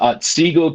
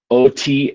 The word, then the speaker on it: Otsego: We no longer wonder what a wretched like Stephen Arnold, Stephen is spelled with a PH, and then Arnold, a schoolmaker at Otsego County, Otsego County.